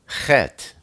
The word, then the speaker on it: Chet: Then we turn to Chet. Chet is the number 8, and it's pronounced that's a guttural sound, like Ruach.